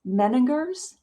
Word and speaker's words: Meininger's: So now you were, tell me if I'm mispronouncing this, Meininger's Wine Business International?